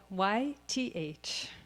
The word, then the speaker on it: YTH: We just launched it 2 days ago, and you pronounce it YTH.